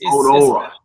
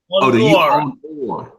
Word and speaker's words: Onuora: I said the A is silent, I guess. No. Onuora. So it's Onuora. Onuora. Onuora. Yeah. So it's the U. Onu is the mouth, and then Ora is people, the public. So Onuora.